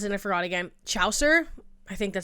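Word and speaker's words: Chaucer: I brought up oh my god and now you guys told me how to pronounce it and I forgot again. Chower I think that says Chower.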